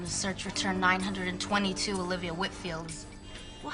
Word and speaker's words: Whitfield: Hi, I have a meeting with Olivia next week and just wanted to get the pronunciation of her last name correct. Whitfield? Whitfield.